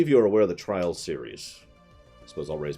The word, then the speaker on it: Trials: and you're doing tricks no trials I'm saying it right I double-checked my reading it is trials it's it's actually some fun games some legitimate fun games and trials not trails trials yeah and don't